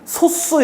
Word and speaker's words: 소수: 요거 말고 소수도 있나요 여기서 이거 발음이 소수 이렇게 발음이 됩니다 소수 2 3 5